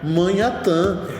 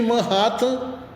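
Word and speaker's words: Manhattan: quadrinhos do Homem- Aranha, só que eu não sabia que a pronúncia era Manhat Ratan e eu lia Manhatã. Manhatã, manã. Até que uma vez v no Jornal Nacional falou aí tinha um correspondente aqui em Manratanu, rapaz é Manratan.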